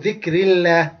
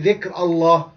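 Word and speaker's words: ذكر الله: So dhikrillah, we don't say dhikr Allah.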